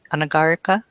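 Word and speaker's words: anagarika: You're stressing the wrong syllable. Oh, I'm sorry. Anagar ana. Yeah. Anagara. Anagar. Anagara. Latin has the same rule. Latin it's the penultimate syllable if it's long.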